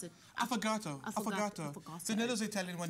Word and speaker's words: affogato: After the break, we're in the kitchen making an Italian dessert called an affogato, and we're back on the couch to catch up with actress Jay Anstey.